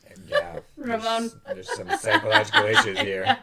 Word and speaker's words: Ramon: Ramon. There's some psychological issues here. Oh, what the hell? Maybe Trying to roll your R's too much. Just say Ramon.